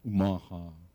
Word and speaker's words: Omaha: tribe of Nebraska uh which is pronounced nasly way up in your nose Omaha uh and um somebody